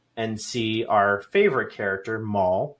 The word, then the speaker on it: Maul: We're going to show up to Snow City and see our favorite character, Maul, rhymes with Paul, um, wearing a brand new outfit.